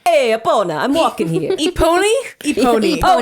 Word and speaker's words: Epona: Epony? Epony. Oh, Eponia.